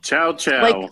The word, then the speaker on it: chouchou: serial killer shoo shoo chouchou like the shoe that you put on your foot like a chow not look at Chow dog when you chowder no it's the exactly exactly how you say it it's a term of